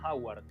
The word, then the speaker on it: Howard: Eh, eh, la forma correcta es Howard.